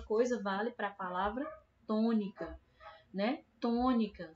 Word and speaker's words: tônica: Mesma coisa vale para a palavra tônica, né? Tônica. Se a sílaba mais forte da palavra tônica fosse o ni, a gente falaria tônica.